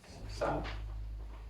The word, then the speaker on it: Sartre: How do we pronounce this? Sartre.